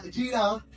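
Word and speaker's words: יראה: La palabra temor es una palabra que en el idioma original se escribe o se pronuncia yirá, pero cuando uno escucha la palabra temor, ¿qué se le viene a la mente?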